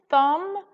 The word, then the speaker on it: thumb: Okay, let's move on to thumb. Here we go, thumb. Okay, so again, if we were sounding out, we would have Okay, so is the sound and B is the silent letter there.